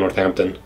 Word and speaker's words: Northampton: was uh Crown Northampton I always say Crown Northampton and I believe they say Crown Northampton they just like drop the h it's hard language is